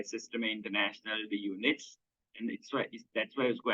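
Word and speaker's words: Système International d'Unités: एसआई एक French name है जिसका ओरिजिनल प्रोनाउंसिएशन होता है सिस्टम इंटरनेशनल दी यूनिट्स, राइट?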